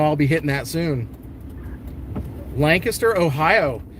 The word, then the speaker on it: Lancaster: Now, do you guys pronounce it Lancaster or Lancaster? I know there's pronunciation differences depending on where you go. In PA, a lot of people, you know, it's both. People will say both, but Lancaster is what a lot of people say.